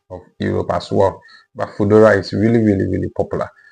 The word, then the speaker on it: Foodora: The second one is Foodora. Foodora. So the word food and then ora.